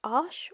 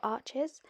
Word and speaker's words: Arches: French made of paper I will be using the French pronunciation today which is Ash if anyone would like